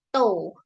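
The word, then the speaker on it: 十日: Kalau tanggal 10, nah hati-hati ya, tanggal 10 spesial ya. Tou. Tou.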